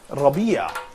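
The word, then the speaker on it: ربيع: so here's that so I'd like just to pronounce this for please follow me so I say Rabia probably yeah can you see that what does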